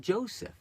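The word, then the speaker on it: José: And I've, you know, look to the example of Joseph. Now in Hebrew, the letter J is pronounced like a Y. In Spanish, it's like an H.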